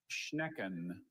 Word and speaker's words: schnecken: I'm sorry, Galila is spelled G-E-L-I-L-A-H. Thank you. Hi, Visharad. Hi. Schnecken. Schnecken. Can I please have all the information? Schnecken has just the one pronunciation. Schnecken.